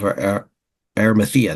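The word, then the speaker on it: Arimathea: it and um it mentioned that Joseph of arthea that's how you pronounce it Joseph of arthea was a a secret disciple of Jesus so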